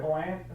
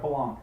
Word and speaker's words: Palahniuk: Chuck Palahniuk?